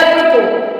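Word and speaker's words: apropos: rule कहता है कि कुछ वर्ड्स में एस साइलेंट होता है दूसरे लेटर्स की तरह एस भी कहीं कहीं प साइलेंट होता है जैसे ए प आर ओ प ओ एस अप्रोपो यहां पे हम एस नहीं बोलेंगे अप्रोपो अप्रोपो मींस होता है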